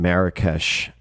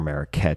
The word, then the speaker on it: Marrakesh: This episode was recorded as he was bouncing around the globe and primarily in Marrakesh or Marraet depending on how you want to pronounce it, Morocco.